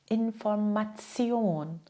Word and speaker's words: Information: Tion spricht man wie Zion. Ne? Zion. Ein paar Beispiele. Sprich mal mit. Ne? Information, Station, Position, Nation, Reaktion, Emotion.